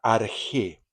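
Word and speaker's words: ἀρχή: Ellos buscaban el arjé, es una palabra griega, arjé. El arjé, también escrito como arjé, con A-R-K-H-E, acento en la E, obvio, es un término griego que significa el principio, el origen, el comienzo.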